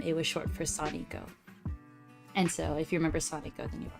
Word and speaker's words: Soni: do prefer Sani uh you pronounce Sony like um s-a-w-n-i-i or k-n-e-e um whichever one you prefer um so it's not Sony like the brand the video game brand um and it's not like um uh popular looking